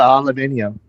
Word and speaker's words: aluminum: I love Aluminum. Aluminum or aluminium. There is another one. Oh yeah, the British always are aluminium and instead of aluminum.